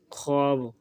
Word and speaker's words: خواب: وقت انہیں لکھتے ہیں۔ فارسی الفاظ کی واو معدولیہ جو خ کے بعد آتی ہے، مثلاً خود، خواب، خوش، خوش، خواجہ وغیرہ، تلفظ میں نہ آئے، اس کا شمار نہیں ہوتا۔ تختی میں خود، خواب،